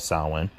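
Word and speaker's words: Samhain: he arranged a he raved about Sawin using its proper gaelic pronunciation and wanted my autograph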